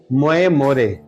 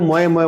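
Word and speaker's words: Moje more: देखिए, वैसे original version तो है मोए मोरे, मोए मोरे, मोए मोरे, मोए मोरे, लेकिन लोग मोए मोए बोल देते हैं।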